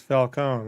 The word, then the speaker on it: Falcone: I love them, but that's the one I was like, it's not Falcone, it's Falcone. Like, what is going on here?